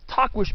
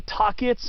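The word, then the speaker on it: Tahquitz: hiked since october of 2017 and that was talk wish peak and uh yes that's supposed to be how you pronounce it it's spelled u i t t-a-h-q-u-i-t-z a lot of people say talkits or talkwits or tuckheats or tuckwheats but i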